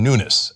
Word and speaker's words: Nunes: Well, we've got more drama and problems with House Intelligence Committee Chairman Devin Nunes. And by the way, it turns out that is how his name is pronounced. He's Portuguese.